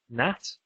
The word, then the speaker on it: gnat: The same thing in the word gnat, which is like a little flying insect. It used to be pronounced gnat. But at around this time in English history, people stopped pronouncing the K and they stopped pronouncing the G.